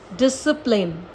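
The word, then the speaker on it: discipline: स पढ़ा जाता है तो एस के संग अगर सी आता है तो वह साइलेंट ही रहता है और अगर के से पहले आता है या यू से पहले आता है तो भी सी जो है वह साइलेंट रहता है अगेन एक्सेप्शन सब में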